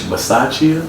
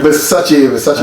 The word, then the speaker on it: Bisaccia: I just hope that we can keep it pushing with Rich Bisaccia. I think that's how you. Bisaccia. I think that's how you pronounce his name, Bisaccia.